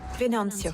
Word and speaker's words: Venancio: Il est là, Comment on prononce son nom? Venancio.